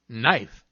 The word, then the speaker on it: knife: sir it's just that sometimes i'm silent so i do nothing but sit there give me some examples knight knee knife knock knock who's there